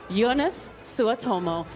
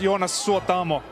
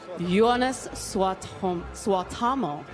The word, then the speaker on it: Jonas Suotamo: Ladies and gentlemen, Jonas Suotomo. Hi, how are you this evening? I'm very good. It's pronounced Jonas Suotamo. Jonas Suotamo. It's a tongue twister.